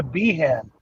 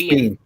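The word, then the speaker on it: Biehn: love the whole story Bean or is a bean it's bean bean bean it's Bean Michael Bean okay because the way it's spelled is this you know what's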